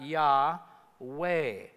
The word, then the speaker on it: Yahweh: So you throw a few vowels in so you can pronounce it, and it comes out Yahweh.